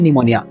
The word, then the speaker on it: pneumonia: में होता है वो निमोनिया ही है ठीक है इंग्लिश में इसको इस तरीके से लिखा जाता है पी इसमें साइलेंट होता है ठीक है क्योंकि इसमें